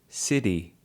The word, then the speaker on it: city: Now, Thalia shows with the word city, you can pronounce the word city. If you listen carefully to Thalia, she actually says city, city. And that's more American or Australian English in terms of pronunciation.